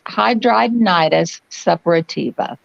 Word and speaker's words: hidradenitis suppurativa: of my friends from the UK but it's hidradenitis suppurativa okay yeah okay that helps let's there we